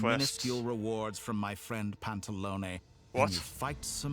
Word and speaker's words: Pantalone: I guess it's a bit like with Sandrone, it's like an A sound at the end.